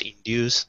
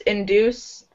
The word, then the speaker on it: induce: In British English, it's more like in due. I'm trying to spell how it sounds. So it's a long U in the middle, this U, induce. In American, Canadian pronunciation, it's do. So it's like that double O sound, the oo, induce, induce.